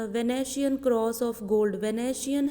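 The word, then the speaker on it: Venetian: वेनेशियन है ये pronunciation, और ये cross of gold and joule of admirable workmanship.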